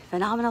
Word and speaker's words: phenomenal: Phenomenal, phenomenal, phenomenal. That's all I want to say is phenomenal. Just say it. It feels good. Phenomenal. And I like saying all the syllables, really emphasizing all the syllables.